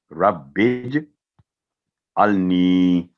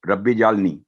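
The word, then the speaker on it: رَبِّ اجْعَلْنِي: Sound بن رہا ہے, ربج النی. تو ربی جالنی, ایک تو ربی جال, یہ ساؤنڈ غلط ہو گیا, پھر نی چھوٹی کر دی گئی, یہ بھی تلفظ غلط ہے. ربج النی, نی کے بعد 2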